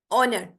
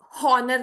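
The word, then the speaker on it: honour: कहेंगे बल्कि इसको आवर ऑनर यहां पे हनर नहीं है ठीक है एच यहां पे साइलेंट है ऑनर ऑनर कहते हैं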